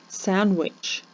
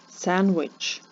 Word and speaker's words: sandwich: слові Listen daughter daughter sandwich sandwich his daughter is eating a sandwich в слові daughter не вимовляється літери G в слові sandwich не вимовляється літера D Must Clim в слові